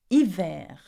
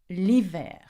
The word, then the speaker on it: hiver: And the last season is winter, we say hiver. Can you say that? Hiver. Now remember, do not pronounce the H in hiver, okay? We pronounce the I. And the winter would be l'hiver.